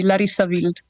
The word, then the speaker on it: Larissa Wild: How do you say Larissa Wild, as it should be said? So it's pronounced in German because I'm from the German-speaking part of Switzerland. So you would say Larissa Wild.